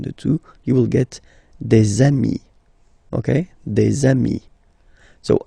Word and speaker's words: amis: two, you will get des amis, okay, des amis. So ami, remember, doesn't change. Even if you get to write the S, then you don't pronounce it, okay.